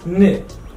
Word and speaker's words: ن: And the next letter in this group is N.